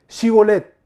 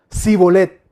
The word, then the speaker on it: Shibolet: Si él respondía: No, entonces le decían: Ahora pues, di Shibolet. Él decía: Sibolet, porque no podía pronunciarlo correctamente.